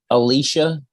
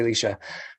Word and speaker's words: Leisha: Alicia? Leisha, Litia. It took us forever to figure out for her to teach us how to say her name. Latia? No, it's just Leisha. Just say Leisha.